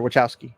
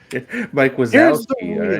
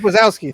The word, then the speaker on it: Wazowski: Or Wachowski. Mike Wachowski. Monsters Inc. Sorry. Mike Wazowski. Right. Mike Wazowski, thank you.